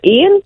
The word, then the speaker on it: Iain: Hey, how do you pronounce? Is it Ian? Ian, right? yeah. Ian.